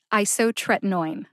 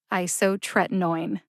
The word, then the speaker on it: isotretinoin: that mean it means you emphasize I but not as much as you emphasize the third syllable which is tret see if you can hear the emphasis on I and Tourette isotretinoin isotretinoin how did I find